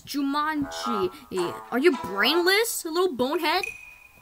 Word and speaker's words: Jumanji: Jumanjo. It's pronounced Jumanji, little twit.